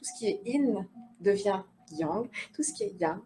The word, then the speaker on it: yang: le yin et le yang. Mais le yin-yang, alors on dit normalement in, comme s'il n'y avait pas de y, in, et yang. On prononce toutes les lettres. Y-A-N-G. Yang.